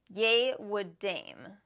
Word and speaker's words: Yehwadam: She says this brand is pronounced Yehwadam.